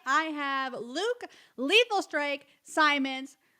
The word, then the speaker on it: Simonds: have Luke lethal strike Simons just like diamonds because I always pronounce